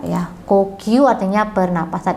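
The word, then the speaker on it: 呼吸: Jadi pernapasan itu dibacanya adalah kokyu. Minasang yang nomor 2 ya. Kokyu artinya pernapasan. Ingat, ko-nya nggak panjang ya, tapi pendek. Kokyu.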